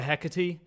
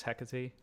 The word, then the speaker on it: Hecate: Oh That's yeah, probably the Hecate. is that how that's pronounced? I assume it's pronounced like the Greek witch, the Greek goddess Hecate, right?